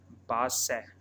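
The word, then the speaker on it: Barsac: It is called Basse. R word is silent.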